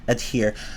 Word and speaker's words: adhere: Like, it just doesn't sound right to me to take the H out. Adhesive, adhere. No, I would say adhesive, adhere. I don't know. Maybe that's an acceptable alternative pronunciation. I haven't looked at how at a dictionary, so to determine that. So I wouldn't know, but yeah, I would just say the H.